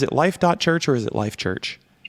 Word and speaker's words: Life.Church: life.church or is it life church life church the god is silent clark the dot is silent oh yeah you're the